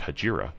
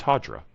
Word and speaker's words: Hajira: It is not Hajira, it's Hajira.